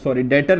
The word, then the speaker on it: debtor: इसको बेटा पढ़ते डेटर हैं, ये बी साइलेंट होता है। कई लोग इसको बी को पढ़ने लग जाते हैं, तो बी नहीं पढ़ना बेटा, डेटर DETOR डेटर पढ़ना है इसको, ठीक है?